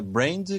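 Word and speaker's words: Brandt: o seu sobrenome mas é um sobrenome em inglês né Brand com T mudo no final até acredito que ela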